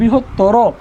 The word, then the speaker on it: বৃহত্তর: দেখো এখানে বলছে শব্দের শেষে যদি তর, তম এবং আন প্রত্যয় থাকে, শব্দের শেষে তর, তম, আন প্রত্যয় থাকে, সেক্ষেত্রে অয়ের উচ্চারণ কি হয়? ও হয়।